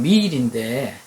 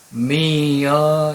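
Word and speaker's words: meal: 알고 계시면 됩니다 쉽죠 우리말로 표현할 때는 그냥 미 일인데 정확한 용어 발음은 중간에 장음이 들어가서 미어 이렇게 되거든요 이것도 알아두시기 바랍니다 그리고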